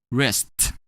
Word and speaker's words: risked: When we add a D to risk, we're going to pronounce it as risked.